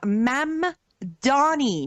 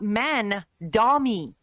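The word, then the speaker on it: Mamdani: Secondly, the man's name is Mam Donnie, not mani.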